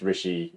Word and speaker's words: Ricci: And then if you're interested in some of the personal stuff I do on YouTube, then that is just Rishi, RICCI, and then that's just Rishi Talks.